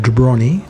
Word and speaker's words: Dubrovnik: through the main street of jabroni that's how the locals pronounce Dubrovnik to find the local bus